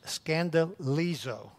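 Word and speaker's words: σκανδαλίζω: in greek okay now the greek word is pronounced scandaliso scanda liso and from that word we get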